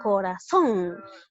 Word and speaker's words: corazón: Pero si tú pronuncias bien, sería corazón, donde lleva la mayor fuerza de voz en la última sílaba.